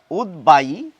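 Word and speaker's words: উদ্বায়ী: কিন্তু তা একেবারেই নয় ব ফলা থাকলেও এই শব্দগুলির উচ্চারণে ব এর উচ্চারণ রক্ষিত হবে দীপ্ত হবে না আমাদের এই শব্দগুলি বলা উচিত উদ্বাই উদ্বিগ্ন উদ্বেগ উদ্বেল উদ্বোধন অর্থাৎ এই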